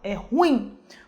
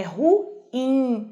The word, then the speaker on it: ruim: Se você comete o erro de falar ruim, você fala que é uma palavra monossílaba, que é o que diz a questão, né? Você considera o ruim como ditongo, você vai errar a questão, porque não é ruim, é ruim, hiato.